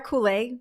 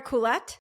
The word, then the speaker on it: Koulet: Um her name is Koul. Am I pronouncing your name correctly? It actually is a hard T, but um I'm also known as Kool.